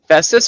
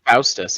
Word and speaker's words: Festus: uh the child was festus or faustus i thought it was faustus it's festus as in hephaestus not false ah right yeah you're